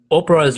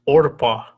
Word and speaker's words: Oprah: get him and finally oprah's real name is actually orpah people mispronounce it regularly so she changes to opera how about that so